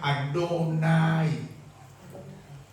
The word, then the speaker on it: Adonai: Kalau Tuhan saja yang huruf awal besar dibaca Adonai.